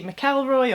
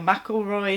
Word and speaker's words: McElroy: fabric it's a lady McElroy or McIlroy however you want to pronounce it it's beautiful it's washed